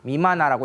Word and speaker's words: 미마나: 고구려가 이제 41개의 시족, 그리고 신라가 9개, 임나, 미마나라고 읽습니다.